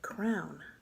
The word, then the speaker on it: crayon: I say crayon. Now, I didn't know this until like a couple months ago, but some people pronounce it crown. Crown like what a king and queen wear.